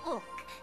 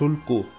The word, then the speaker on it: Ulk: My name's Ulk. No, no lo es. No es Ulku. ¿Por qué esa última U ni siquiera se pronuncia? Porque tú en la voz has dicho Ulk.